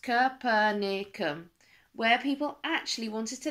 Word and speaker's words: Capernaum: Except he went to the place called Capernaum, which is pronounced Capernaum, where people actually wanted to listen to what he was saying.